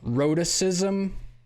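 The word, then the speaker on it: rhotacism: a new word uh rhodicism is that the word am i even saying it right wrote it that's it yep yeah and uh i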